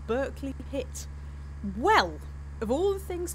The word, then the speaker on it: Berkeley Pit: It's called Barkley Pit. Well, they'll pronounce it Berkeley over there. Berkeley Pit.